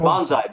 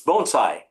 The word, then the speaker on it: bonsai: It's b o n e s i g h with the accent on the first word bonesai. It's not bonsai. Bonsai is the charge word. It's bonesai.